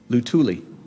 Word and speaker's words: Luthuli: Can you pronounce that for me? Luthuli? Luthuli.